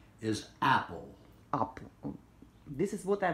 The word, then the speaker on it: Apple: The correct pronunciation is apple.